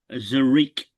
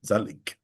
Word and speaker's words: Zaleik: Race two, Rose Hill number six, Zarik, if that's how you pronounce it, or Zariki. Zaleik. Zaleik. There's an L in there, not an R.